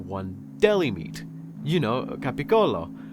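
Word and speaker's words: capicola: deli meat you know cap Colo which if you don't know is the original way to pronounce Gaba goul every time someone said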